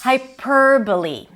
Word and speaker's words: hyperbole: The next word is hyperbole.